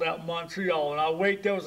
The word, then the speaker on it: Montreal: relatives and everybody had a problem of pronouncing the name montreal they called me montero they call me monk treat and some people call me money and call everything so went on and i got to going out then and when i got started school then people would ask me when i got to school my teachers were to pronounce it montreal well i go out